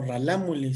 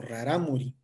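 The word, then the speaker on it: Rarámuri: Entonces si ustedes escucharon Pues no no lo leí como ralámuli sino como raramuri es cuestión de la escritura como en el inglés cómo se escribe y cómo se pronuncia es aquí una un claro ejemplo de esta manera de escribir y otra es la manera de hablar entonces no es ralamuli es raramuri Es raramuri Bueno gracias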